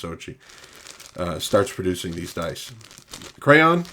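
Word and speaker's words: Zocchi: Yeah, and then Lou Zochi, I think it's pronounced Zochi, starts producing these dice.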